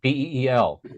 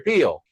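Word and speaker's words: Pihl: How did you pronounce his last name? Peel, like a banana? I think it's Peel, like Peel.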